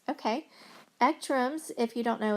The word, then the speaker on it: ECTRIMS: So Ekrems, okay. Ekrems, if you don't know, it's spelled ECTRIMS.